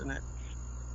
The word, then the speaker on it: Stinnett: Is it pronounced Stinnett? Yeah, you got it.